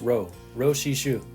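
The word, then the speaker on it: Jo-Hsi Hsu: With Rui Yanggu-Lin out, the ace becomes 24-year-old Ro Shi-Shu. If you're looking for it, it's spelled like Joe, but pronounced Ro Shi-Shu.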